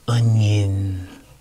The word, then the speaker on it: onion: the in example, like onion. So if you notice, also the O, we don't go onion, it goes un, has a U sound, un. And the I has a yin, onion, has a Y.